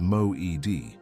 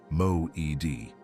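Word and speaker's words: מועד: The word is Mo-ed. Say it once, quietly, in the space between your hand and your chest. Mo-ed. Second syllable carries the weight.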